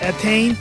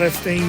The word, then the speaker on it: Etienne: was Stefan Etienne, and it's actually Stefan was right, but the last name is Etienne. So there was no S there, so I kind of mispronounced his name there. So it's Etienne, not Etienne there.